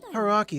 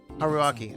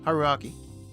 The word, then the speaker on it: Haruaki: Haki son, don't bother Rako's son too much. Haruaki. I said his name wrong. Haruaki.